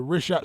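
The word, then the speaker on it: Richat: The rishhat structure. It's spelled R I C H A T. Rish.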